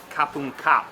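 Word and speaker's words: ขอบคุณครับ: ขอบคุณค่ะ Kapung ka if you're a woman, or if you're a man saying it, kapung kap.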